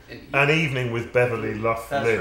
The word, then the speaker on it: Beverly Luff Linn: An evening with Beverly Luff Linn.